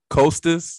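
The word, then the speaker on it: Kosta: Y'all had Costas, that's how you say it?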